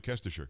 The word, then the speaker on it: Kestecher: It is Lacey Kestecher. She is, am I saying it right, Lacey? I am, right? Kestecher.